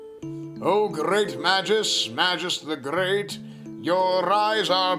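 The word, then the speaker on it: Magus: wait you guys you guys pronounce it mages it's magis it's magis i said it's madges obtain speed belt obtain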